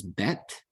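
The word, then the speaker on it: בית: Okay, with this dagesh in it, with the dot in it right here, it is pronounced B, B as in boy, as you see there. And without the dagesh, without the dot, it becomes V, as in vine.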